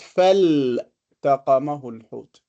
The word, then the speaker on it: فالتقمه: But this one, we pronounce it فالتقمه الحوت.